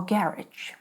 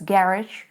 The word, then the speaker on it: garage: Garage or garage? Well, actually both. In British English, it is garage, and in American, it is garage. Garage. Sounds like French.